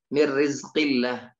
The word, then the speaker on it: Mir Rizqillah: Mir Rizqillah, Mir Rizqillah. Misalnya, tidak dibaca Min Rizqillah, tapi dia dibaca Mir Rizqillah, ya, Mir Rizqillah, seperti itu.